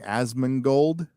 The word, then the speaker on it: Asmongold: I'm going to say his name wrong. Asmongold.